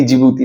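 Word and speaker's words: Djibouti: छोटा सा कंट्री है जिबती और डी जिबूती नहीं। जिबूती डी है साइलेंट इसका।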